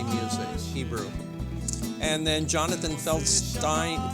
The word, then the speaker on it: Feldstein: uh popular Israeli music Hebrew and then Jonathan feldstein feldstein he pronounces it we'll be here Sunday May 28th